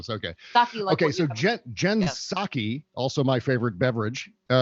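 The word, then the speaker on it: Psaki: kind of serving members the p is silent is it really thanos yeah it's silent it's silent okay okay so jen saki also my favorite beverage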